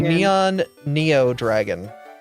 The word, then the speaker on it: Neon Neo Dragon: I thought it was neon Neo Dragon. Neon Neo Dragon. Oh, right. Yeah, cuz like it's neon then Neo. So you you have two ends together then no end at the end.